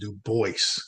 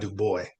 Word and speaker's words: Du Bois: Du Bois, and it is pronounced Du Bois, Voice. not Du Bois, Right. which some people mistake, Right. and he stated that himself.